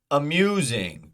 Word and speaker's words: amusing: two options popular amusing we're looking for the second syllable stress amusing Mew Mew popular po po AMU the second syllable is amusing it is stressed so let's go to